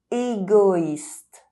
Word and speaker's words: égoïste: soirée evening voiture car With OI, the dieresis on the letter I indicates that you must pronounce each vowel separately: égoïste selfish héroïque heroic OIN